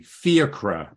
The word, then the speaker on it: Fiachra: Yeah, I guess Fiachra is an Irish name, right? Is it pronounced that way? Exactly. Fiachra. But I like, you know... Yeah, it's weird where the emphasis is on, right?